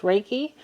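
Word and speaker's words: Reiki: believe they're called U it's pronounced raiki healers they could help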